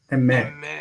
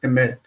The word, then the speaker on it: אמת: Emet. The first syllable is like a chataf segod, so it's fast. Emet.